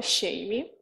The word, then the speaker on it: Sheimy: Tá, o meu nome é Shame, exatamente, e fala exatamente como o nosso GIF ali, a pronúncia é bem parecida.